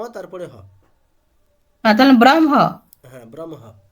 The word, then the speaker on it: ব্রহ্ম: তো আগে ম তারপরে হলে ব্রহ্ম হ্যা ব্রমহ আর একচুয়ালি ওটা ব্র হম হ্যা